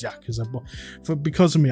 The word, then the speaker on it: Yakuza: I say Yakuza. I know it's pronounced Yakuza, but for because of me accents and stuff, don't hate me.